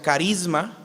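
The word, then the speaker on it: χάρισμα: De hecho, la palabra don en el griego se pronuncia carisma, de donde viene la palabra carismático, don espiritual, carisma neumáticos.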